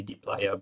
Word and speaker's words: dplyr: For the pronunciation, by the way, I say dplyr, but the people who made the package said explicitly that you can pronounce it the way you want.